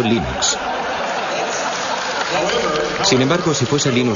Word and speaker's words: Linux: Cómo se pronuncia Linux Bueno yo Linux lo pronuncio Linux sin embargo si fuese Lin thoral no hay